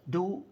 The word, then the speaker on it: doux: world better you may remember this concept called do Commerce the French word is spelled D o u x it means sweet